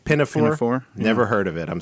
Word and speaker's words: Pinafore: the year and it's HMS How do you pronounce this? They said Pinafore.